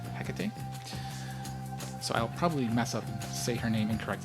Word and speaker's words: Hecate: I always thought it was heate. That's how I just were just reading it in English. I was like, "Oh, that must that's what it is." So, I never knew it was Hecate.